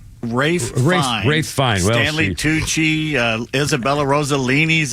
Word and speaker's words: Ralph Fiennes: Ralph Fiennes? Is that how you pronounce it? Rafe Fiennes.